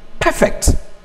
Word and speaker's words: perfect: we sometimes call it the stress map automatically remains on the first level or if used as a verb it changes this one is perfect mr perfect that is